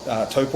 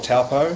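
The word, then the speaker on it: Taupō: So, look, I live in a town called Taupo or Taupo, hmm, for those who struggle with our pronunciation with the Maori language.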